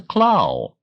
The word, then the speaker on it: Klau: speaking of is Christoph k l a u pronounced the claw don't you see the